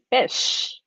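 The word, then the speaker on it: ghoti: So GH could be pronounced as F, as in tough or rough.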